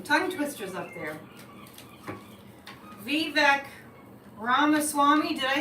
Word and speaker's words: Ramaswamy: Vivek Ramaswamy. Did I say it right that time? Swarmy? Yeah, I want to say Ramaswamy.